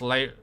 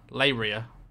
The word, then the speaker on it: Leiria: It's actually pronounced Leiria. Leiria.